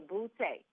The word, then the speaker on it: Boutte: I appreciate it because I get everything bow, boot. I think a lot of times people are trying not to offend me, and so that's why they pronounce it that way. And I'm like, you know what? It's the bougie way of saying booty.